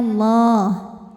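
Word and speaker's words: الله: Lam jalalah dibunyikan secara tafkhim sebab huruf sebelumnya berbaris fathah, maka dibacanya tebal, bunyinya Allah.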